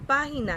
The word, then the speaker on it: página: quedaría de esta forma cuál sería la sílaba tónica de la palabra página muy bien para entonces página es una palabra esdrújula de acuerdo es una palabra esdrújula porque la sílaba tónica se encuentra acá y las palabras esdrújulas la regla dice que siempre se tildan entonces nos quedaría de